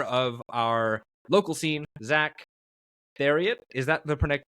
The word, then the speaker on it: Theriot: It's Theriot, actually. Theriot. Yeah. All right. Never would have expected that one. Theriot. Yeah. It's a good old Louisiana last name.